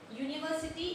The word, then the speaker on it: university: But when we pronounce it university, it doesn't sounds the U.